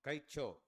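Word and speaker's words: കഴിച്ചോ: Kalicho, correct? Kalicho, Kaicho. See that ZI is I. How? You are from Malayalam. What is, how do you say it? Kaicho. Okay, Kaicho, correct.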